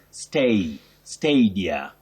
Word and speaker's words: stadia: and you say stadia now when we see the spelling we find ourselves uh saying stadia but please the first a takes its name as the sound so you say stay stadia remember we can also